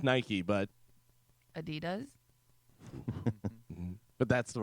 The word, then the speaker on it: Adidas: Adidas Adidas Adidas not Adidas Adidas Adidas those German shoes uhuh uh my